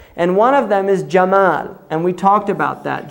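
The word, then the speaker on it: جمل: Jamal, right? Camel is from Jamal, because the Egyptians say Gamal. They pronounce the jim Gamal. So when the Europeans first heard it, they heard Gamal, camel, right?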